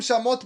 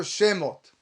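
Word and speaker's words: שמות: Don't pronounce the word shamot, but rather shemot.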